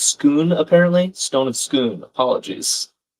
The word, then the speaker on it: Scone: And Charlie says it's pronounced Scoon, so Stone of Scoon, English, robbed it from the Scottish classic.